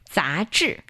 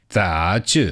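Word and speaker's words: 杂志: How do you say magazine? 杂志. 杂志. Perfect.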